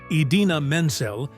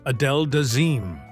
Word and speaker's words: Idina Menzel: It Go from Frozen, Travolta mispronounced her name in a way that immediately went viral. Instead of saying Idina Menzel, he announced her as Adele Dazeem.